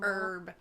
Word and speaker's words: herb: garden herb. It looks like a Garden herb. Oh. The H is silent.